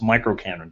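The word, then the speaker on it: µKanren: me symbol meant and it's supposed to be pronounced micr Canon just like we have mini Canon um so some people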